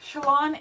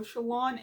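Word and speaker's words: Shallan: So Shalon, not Shalon, Shalon. Every time someone says it as Shalon, I think of the word shallot. I don't know, it's random, but anyways.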